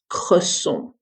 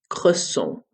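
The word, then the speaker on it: cresson: Croissant. Croissant.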